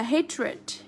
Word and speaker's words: hatred: Cái này là tính từ, do vậy mà chúng ta phải đọc là ịt. Tất cả những cái tính từ mà kết thúc bằng đuôi ed này, nó là tính từ, chúng ta đều đọc là ịt hết nha.